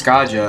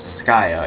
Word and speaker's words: Skaja: a gamer not oh skya or scaja as a lot of people pronounce it but it's actually pronounced skya it's it's a weird name I know kind